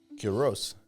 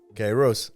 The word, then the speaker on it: Kyros: Et ben bienvenue bienvenue de nouveau avec Ky Ros ou des fois certains disent Kyos avec la prononciation américaine.